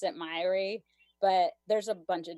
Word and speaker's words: Myhre: This doctor that I was just talking about and the Myhre Syndrome Foundation pronounce it Myhre, but there's a bunch of different ways, especially